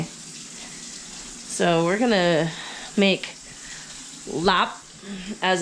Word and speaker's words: larb: it is tuesday so we're going to make lap as it's pronounced but you see it's spelled l-a-r-b so for all you white folks out there it's larb for this we're going to make cabbage wraps typically lop is not served as a wrap so traditionally